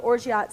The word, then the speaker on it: orgeat: There is a syrup called orgeat syrup, right?